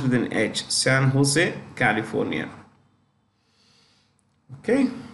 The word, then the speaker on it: San Jose: Systems which is headquartered in San Jose it's pronounced with an edge San Jose California okay San Jose California let's go past this apple apple is